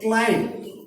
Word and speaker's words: climb: Like you can find there is a word climb, and you know that B is not pronounced in English.